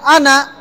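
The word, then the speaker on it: أنا: টান দিছি এখানে ওয়ালা আনা এই আনাতে টান হবে না কেন হবে না যে আনার আলিফ টানতে মানা আনার আলিফ টানতে মানা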